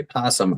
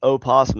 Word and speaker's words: opossum: No, I would say that an opossum and a possum are two different animals. No, opossum is not pronounced opossum. It's still pronounced possum. The O is silent.